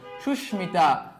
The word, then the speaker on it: সুস্মিতা: যাই ম ফলা যুক্ত কতিপয় সংস্কৃত শব্দের উচ্চারণ সংস্কৃত রীতি অনুযায়ী হয়ে থাকে মানে সোজা কথায় যেগুলো হচ্ছে ম ফলাযুক্ত সংস্কৃত তৎসম শব্দ সেগুলার উচ্চারণের কোন পরিবর্তন হয় না যেমন দেখো কুশমান্ড